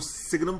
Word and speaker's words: signum: Now one last transformation we will go for, y equal to fx, y equal to signum function of fx.